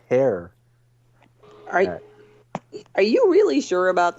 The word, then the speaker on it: Herr: Although Like, you would actually pronounce it hair.